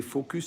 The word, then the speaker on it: focus: Non, ça veut dire que tu étais focus sur le défaut. Il faut bien prononcer le S.